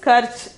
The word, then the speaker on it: खर्च: The 90th one is karch. The 90th one is karch. The pronunciation is karch.